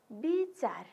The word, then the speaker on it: विचार: अर्को विचार है, विचार। यहाँ हेर्नुहोस् त ब हामीले लेख्दाखेरि वो लेख्ने, तर उच्चारण गर्दा हामीले ब उच्चारण गर्ने है।